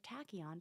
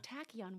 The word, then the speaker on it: tachyon: It's a strange word that's spelled Tachyon. It comes from the Greek word like tachy, which means fast, like our car has a tachometer to how fast am I going.